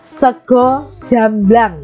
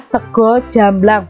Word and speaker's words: sego jamblang: Indonesia yang pertama adalah sego jamblang nya ini bacanya sego jamblang bukan segar ya sego itu bahasa Indonesianya